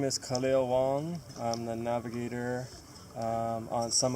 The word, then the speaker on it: Kaleo Wong: Would you pronounce the name of the boat also, please? Yeah, my name is Kaleo Wong.